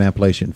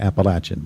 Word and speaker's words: Appalachian: All right, let's get back to the Northern Appalachian Folk Festival, or Appalachian.